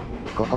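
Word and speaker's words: 湖北: この駅は、湖北って読みます。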